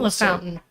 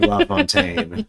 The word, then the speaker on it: LaFountain: LaFountain. We're going to say LaFountain for the most part. I don't like LaFontaine. I'm not playing with that. Yeah, Matt LaFountain. I am aware of the other pronunciation.